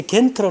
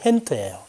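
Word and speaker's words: Gent: 그다음 여기 이제 겐트로 나오는데 벨기에 발음이 헨트예요.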